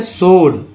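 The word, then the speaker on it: sword: है वो है साइलेंट है, ठीक है, तो साइलेंट लेटर की तरह काम आता है ये आंसर। नेक्स्ट है सोड, जिसमें डब्लू को सोड बोलते हैं, सोड मीन्स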